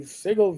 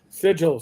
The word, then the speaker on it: Sigil: the basket of the Sigle VTT, which wasn't going to do what they needed it to do. Sigil, sorry, Ra Ra is correcting my uh pronunciation.